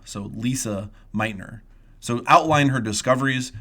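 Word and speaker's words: Lise: be wondering I'm saying Lisa because that's how you pronounce that in German the e at the end is pronounced with an O so Lisa Meitner so outline her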